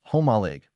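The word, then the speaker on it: Jomalig: Jolig Island, Quesan Province, pronounced homaleig.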